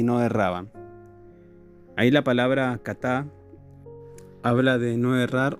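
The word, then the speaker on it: חָטָא: Y la palabra pecaron, o pecar del hebreo, se escribe katá, K-H-A-T-A.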